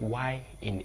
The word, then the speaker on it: Y: And the last one, which is the 25th alphabet, is Yi, Yi, Yi, which is the spelling of Y in English, but it's pronounced Yi in Yoruba.